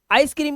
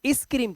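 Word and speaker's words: ice cream: इसकी स्पेलिंग लिखते हो, लेकिन साउंड क्या आ रहा है? इसे इस-क्रीम तो नहीं बोलते, इसे बोलते हैं आइसक्रीम। तो आइस और फिर क्रीम।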